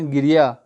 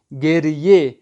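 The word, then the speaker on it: گریه: میں فارسی لفظ ہے، یہ فارسی ورڈ ہے جس کو فارسی تلفظ میں پڑھا جاتا ہے گے سے گیریے، گاف رے گیر یہ ہے یہ، گیریے، گریے یعنی گریا، جو اردو میں ہم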